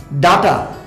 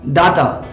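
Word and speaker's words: data: ওকে, তাহলে দেখো, প্রথমে তোমাকে বলি উপাত্ত মানে ডাটা। উপাত্ত এটার ইংরেজি শব্দ কি জানো? ডাটা। নিশ্চয়ই অনেক জায়গায় ডাটা নাম শুনেছ। এটার আরেকটা উচ্চারণ কিন্তু ডেটা হয়। এটাকে তুমি ডেটাও বলতে পারো।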